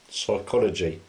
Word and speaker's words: psychology: tsunami the tea silent psychology the p is silent knife the case Island